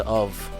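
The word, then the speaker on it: אב: كلمة أب بالعبري اللي هي آف، عبارة عن حرفين، أول حرف ألف وده بيرمز للقوة، وتاني حرف ب اللي هو اسمه بالعبري بيت وده بيتنطق ب أو ف ومعناه البيت أو العيلة.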